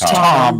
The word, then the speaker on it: Thom: It's Tom. Tom. The H is silent, Yeah.